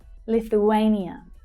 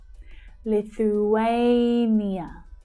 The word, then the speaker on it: Lithuania: Lithuania. Lithuania. Lithuania. So it's the third syllable that's stressed. Lithuania.